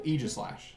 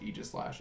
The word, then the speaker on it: Aegislash: Aegislash. Sorry, it's technically pronounced Aegislash.